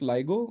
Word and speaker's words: LIGO: clarity uh two points one is it's not pronounced Lio it's pronounced ligo nobody here called it Lio but many people